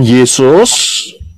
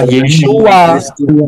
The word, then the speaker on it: Yeshua: Nah, problemnya, apakah Yod, Shin, Waw, Ayin ini bisa dibaca atau diucapkan Yesus? Tidak. Tidak, Pak. Tidak. Jelas tidak, nggak bisa. Karena Yod, Shin, Waw, Ayin itu bacanya, pronounce-nya, pengucapannya adalah Yeshua.